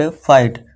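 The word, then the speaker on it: fight: इसे क्या पढ़ेंगे ला ईट लाइट, फा ईट फाइट।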